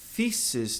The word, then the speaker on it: thesis: E tese, thesis no singular. Curioso aqui que esse E tem som de I longo.